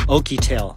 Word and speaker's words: OUKITEL: where's my phone I'm like in my hand oky tail that is how you say it powered by